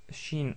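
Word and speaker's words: شين: c'est aussi facile car c'est l'équivalent du son ch dans la langue française donc c'est exactement pareil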